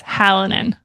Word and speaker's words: Hallinan: It's Hallinan. Hallinan? You got it.